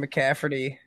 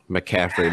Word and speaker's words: McCaffrey: unfortunate news of christian mccafferty getting this high ankle sprain please say his name right mccaffrey man the unfortunate news